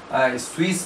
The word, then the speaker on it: cwm: स्विस कहा जाता है, लेकिन इसका अंग्रेजी में जो इसका स्पेलिंग है CWM है, स्विस पढ़ा जाता है।